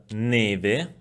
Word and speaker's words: neve: We find the open E in the word bello, bello, while in the word neve, neve, the E is closed, neve. The vowel I is pronounced as in the word libro, libro.